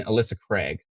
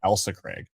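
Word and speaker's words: Ailsa Craig: who have subscribed so i keep pronouncing alyssa craig elsa ah i see it's more like elsa craig oh pronounced elsa craig thank you appreciate that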